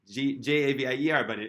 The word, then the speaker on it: Javier: Javier. Javier, but the way it's pronounced, Javier, which sounds very, very similar to Chivra.